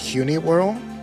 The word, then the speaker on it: Hunewearl: I think it's pronounced Huni World.